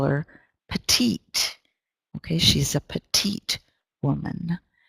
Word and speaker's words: petite: Okay, she's a petite woman. It's a French word, petite, and pronounced in kind of a French way.